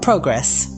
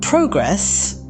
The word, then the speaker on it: progress: The noun progress, pronounced with the stress on the first syllable, is used in sentences like, the students made significant progress in their academic performance. Meanwhile, the verb progress, with the stress on